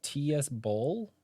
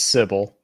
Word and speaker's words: TSBOL: He told me it was TS Bowl. It's Sybil. Oh, it's Sybil.